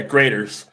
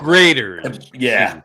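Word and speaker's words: Graeter's: But but pronounced like grers. Grers. Like cheese grers. Like Yeah. It sounds like grers like if you're doing a cheese grater, but it's spelled differently.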